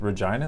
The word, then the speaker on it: Regina: I mean, China rhymes with Regina.